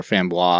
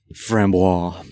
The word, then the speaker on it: framboise: Oysters and a fambra or fambois. I can never say it right. Framboise. Better than me.